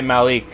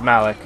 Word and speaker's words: Malik: He talks to everyone but Malik. It's interesting. Malik, I mean. Ugh. I keep wanting to say Malik, but it's Malik.